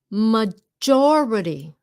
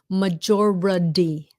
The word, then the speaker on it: majority: Majority. It's a D sound at the end, ladies and gentlemen.